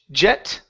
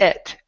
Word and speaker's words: yet: good all right here the word yet instead of J jet okay give me a good Y sound instead of J it's e EET yet yet all right very